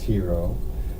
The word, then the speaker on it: Giro: my guest here's gyro which is really spelled here it's pronounced hero but she's being polite to all of us who can't pronounce something Thank You and